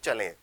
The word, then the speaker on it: chalet: इसको आप टी हटा दीजिए, टी साइलेंट, तो आप इसको बोल सकते हैं चलें।